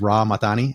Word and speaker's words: Rah Mahtani: So I don't know if I was hitting the everything right with Rah Mahtani.